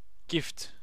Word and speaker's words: GIF: subscriber chat subscribers off it's pronounced gift gift without well gift without tea oh gif freedom oh my god